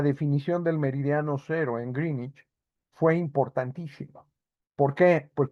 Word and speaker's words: Greenwich: el meridiano de Green Greenwich de Greenich, sí, en en Londres, allá pronuncian Greenich, es Greenwich, Pero bueno, eh, en Londres pasa el Meridiano cero.